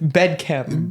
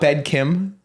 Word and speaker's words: Bed Chem: oh like bed chemistry why' you say it like bed Kim cuz that's what it's called it's bed kmm it's like like chemistry like bedm yeah that's what I'm trying to say not bed Kim Kem I'm sorry I